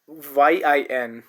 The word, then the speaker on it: yin: It's pronounced as yin. Just like when we say green yin yin when how so it has uh you know a different rule from uh it does not follow the same rule as the previous sounds followed.